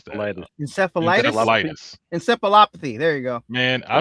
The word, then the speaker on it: encephalopathy: Scroggins battled symptoms consistent with chronic traumatic I can't even pronounce that. Encephalopathy.